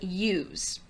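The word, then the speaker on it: ewes: very warm okay very young sheep are called use that's how that word is pronounced e-w-e-s is used is that true or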